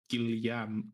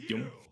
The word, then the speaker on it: Guillaume: but the way his name is spelled, you would think it's like Gilliam. Gilliam. But but it's just Yum.